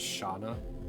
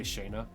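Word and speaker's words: Shana: save now years old when I heard Shauna's name pronounced as shaa I used to say Shaina it's it's just how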